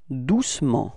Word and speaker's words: doucement: And then the adverb, doucement, repeat, doucement. Okay, so it's the same thing. We don't really pronounce the E between C and M, okay?